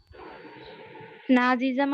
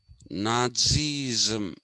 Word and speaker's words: Nazi: Nazism and Mussolini fascism. Mm. Nazism. It has to pronounce Nazi. TZI. Nazi.